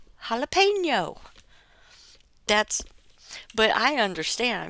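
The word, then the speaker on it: jalapeño: __ ] with me the easiest way to remember how to pronounce that is because it's going to hurt your mouth so it's holla pain yo jalapeno that's but I understand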